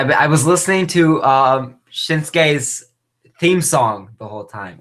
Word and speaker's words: Shinsuke: and it turns out I called him shinuki instead of shinsuke I've been saying his name wrong the whole time thank you NXT takeover